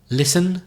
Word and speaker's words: listen: got the silent T listen silent teeth listen has a silent E and what do you